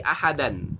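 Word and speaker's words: أحدا: Ahadan tanwin fathah dirubah menjadi mad. Nah, berapa madnya panjangnya? 2 harakat. Maka dibacanya menjadi fala tad'u ma'allahi ahada.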